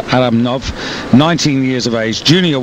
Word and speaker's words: Aramnau: actually Andre Aram nov uh my apologies for mispronouncing his name early on but it's Aram nov 19 years of age Junior world champion ain't